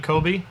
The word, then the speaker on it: Kobe: You mean Kobe? Kobe. Kobe. Kobe. Kobe. You guys, am I the only one that doesn't pronounce words wrong here?